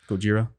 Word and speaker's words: Gojira: When Godzilla, or however you want to pronounce the original Godzilla, Gojira.